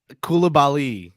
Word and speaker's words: Coulibaly: Anyway, number 7, Bilal Coulibaly. Did I pronounce that correctly? Coulibaly.